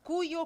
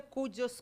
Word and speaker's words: cuyo: Cuyo, cuya, cujos, cujas. Parece cuia, né? Mas a pronúncia varia.